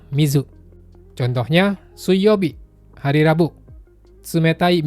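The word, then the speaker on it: 水: Onyominya sui, kunyominya mizu.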